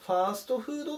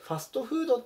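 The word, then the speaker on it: ファストフード: あの日本語でファーストフードって言うんですけどあれはこの団はなんですね実際はなのでファストフードって発音するのが本来の発音なのでそこ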